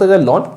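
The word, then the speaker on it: ln: ऑफ x बोलते हैं कोई कोई इसको हम l ए x भी प्रोनाउंस करते it depends on you basically it इज लन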